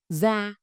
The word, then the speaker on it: da: The word da, skin, is pronounced da.